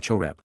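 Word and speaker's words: חרב: The Masoretes vocalize the textual consonants chrb as cherub rather than choreb.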